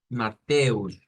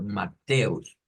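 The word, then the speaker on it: Matthäus: de Mateo en alemán lo podemos pronunciar en ese caso verdad como mateus pero haciendo fuerza en la e más que todo mateus mateus e y pues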